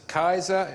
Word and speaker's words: Caesar: we watched Cesar settle Kaiser said yep it's Kaiser the German from CC so yes it is